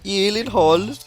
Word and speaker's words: Gyllenhaal: The only two places that that is pronounced correctly, my last name like you did just now, is in Sweden and in IKEA.